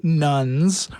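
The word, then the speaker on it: nones: Just to be clear, nuns spelled N-O-N-E-S.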